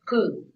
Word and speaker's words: Pu: And the word for joy is Pu, P-U. Pu in Vietnamese, yeah?